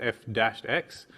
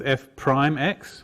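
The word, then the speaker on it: f′(x): so this dash here most people pronounce this aloud as f dash X some people pronounce it as f prime X where the prime means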